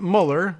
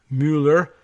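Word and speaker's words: Müller: claims to prove it Carsten Muller or probably Muller and we have that pronunciation problem here in the United States but this is a M you with the umlaut ll er Mueller Carsten Mueller and Carlos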